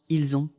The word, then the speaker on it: ils ont: Par exemple, ils ont se prononce ils ont.